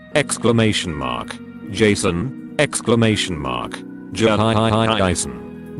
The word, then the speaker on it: Jason: Jason. Gotta capture how all of the emphasis is on the first syllable.